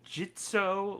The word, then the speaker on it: Gitzo: go into the uh jitso legend camera basket it's going to take me a while to get used to saying jitso now i feel bad for saying it wrong for so long now yeah it's crazy